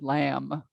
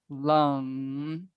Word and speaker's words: lam: years ago now where someone said lamb lamb lamb because it is spelled often l-a-m but it's really not spelled like that so i always spell l-u-n-g like lung lung lung because it's just like lung if you close your mouth so lung lum lum